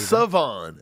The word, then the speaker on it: Shavon: Savon, that's how it's pronounced. Savon with no H. Just a silent H.